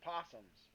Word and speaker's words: opossum: be appreciate your neighborhood opossums opossums by the way opossum is in fact a separate species of marsupial in Australia so make sure to pronounce that O in opossum convergent evolution since Australia